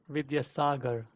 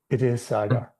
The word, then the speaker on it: Vidyasagar: The emphasis is on the first R, Vidyasagar. Vidyasagar.